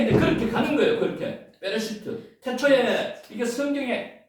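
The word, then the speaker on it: בְּרֵאשִׁית: 아까 그 발음으로 자음하고 모음하고를 연결시키면 이렇게 읽을 수 있습니다. 이게 베레시트입니다. 베레시트.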